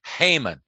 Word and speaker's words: Haman: by the name of haman i remember his name because it rhymes with hangman and he was all